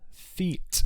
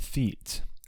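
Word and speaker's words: Théate: It's Arthur Theet. I believe it's pronounced Theet.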